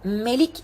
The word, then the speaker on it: Melik: izin al ikimiz iki bu Melik şeklinde okunur Melik şekilde okunur yani insanların meleği olan